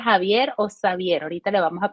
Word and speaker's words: Xavier: que Cómo se pronuncia bueno en francés mi nombre se pronuncia en en catalán se pronuncia eh Xavier Okay yo me voy